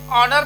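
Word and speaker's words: honour: ये silent word है ऐसे ही ऑनर पढ़ा जाएगा इतना पढ़ा जाएगा ये इसको नहीं पढ़ा जाता है क्योंकि ये साइलेंट वर्ड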